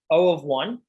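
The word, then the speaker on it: O(1): So the first one at the very top, O of 1, again, that's how you pronounce it, O of 1.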